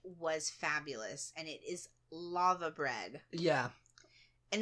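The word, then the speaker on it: laver: fabulous and it is lava bread yeah and it's spelled l a v a r yeah I think but you guys pronounce it lava don't you because I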